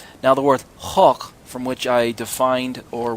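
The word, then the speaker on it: חוק: Meanings get assigned a group of words, and so I understand the word chok. It looks like it's spelled choke, C-H-O-K-E, but really it's chok.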